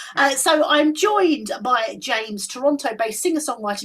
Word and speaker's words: Jaymze: there we go uh so I'm joined by James Toronto based singer song writer musician producer and host of his own podcast which is wicked with James have I said your name oh yes yes because you spell it slightly differently yes um I always say